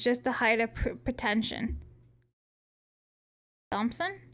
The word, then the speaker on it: Thompson: Um, pronouncing Thommpson with the th instead of Thompson is just a height of pretention. Thompson. Thompson.